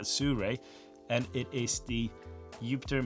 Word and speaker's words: Sirui: It's from Suré. I hope that's how you pronounce it. not sirui or so but surre and it is the